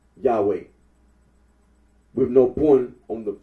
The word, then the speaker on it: Yahweh: made for the name yahwe the scholarly consens of that the original pronunciation of the ttog was yahwe R Aro agrees that